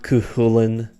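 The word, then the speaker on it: Cú Chulainn: There's far too many ways that I have heard this name pronounced. I go with Cuchulainn, or Cuchulainn. At this point, I almost feel like it's just a matter of opinion and dialect.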